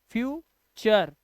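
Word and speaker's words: future: ऐसे ही लेक्चर, यू आर ई को अर पढ़ना है, तो लेक्चर, फ्यूचर। और आपको भी पता है कि टी के बाद अगर यू आर ई होगा तो टी का उच्चारण टा नहीं होता है बेटा, टी का उच्चारण चा हो जाता है।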